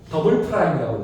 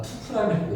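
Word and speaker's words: double prime: 그래서 한국인들은 다 투프라임이라고 읽어. 더블 프라임이 맞는 표현인데 프라임이라고 읽는다고.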